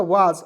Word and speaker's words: was: एस का उच्चारण स भी होता है और ज भी होता है, तो यहाँ पे हम लोग स का रूप में नहीं करेंगे, ठीक है। ये हो जाएगा वाज, और वाज मिस क्या